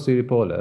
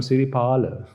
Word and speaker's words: Siripala: was meant uh siripola now excuse me i'm not siri polar i'm siri paola he will make it